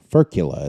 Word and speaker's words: furcula: Furcula is how you say that.